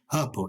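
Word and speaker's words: hirple: with purple but i say because something does rhyme with purple i didn't think anything did but susie told me the word is purple h-i-r-p-l-e what does it mean it means to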